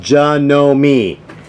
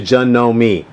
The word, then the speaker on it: Janome: way you pronounce it it's pronounced John know me and if you go online it's tells you that some some some videos when he listened to him they'll say Janome Janome but it's actually Jun